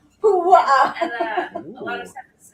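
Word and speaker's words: puaʻa: Pu'a'a. Jesus Christ, Ashley. You're Say gonna it with me. Pu'a'a. Pu'a'a. Pu'a'a.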